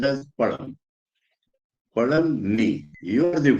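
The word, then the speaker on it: பழம்: In Tamil, fruit is pronounced as palam.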